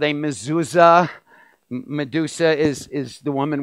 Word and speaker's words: mezuzah: in Hebrew I will say it slowly it's pronounced mezuza and the reason that I say it slowly was because some years ago I remember speaking at an event and I guess I said mezuzah so quickly and I had a gentleman come